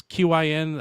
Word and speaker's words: Qin: It's Q I N. I think it's pronounced Qin. Uh I think that ones